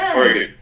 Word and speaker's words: Oregon: if you say gone like I'm gone, yeah, then they know you're not from Oregon. Okay. So you got to swallow the gun. Oregon. So Oregon.